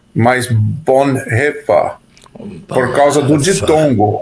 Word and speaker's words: Bonhoeffer: Um é que não é Bonha, mas Bonhefa. por causa do ditongo. O e a pronúncia é e grave, bonhe. Mas tem outro problema que é uma palavra proparoxítona.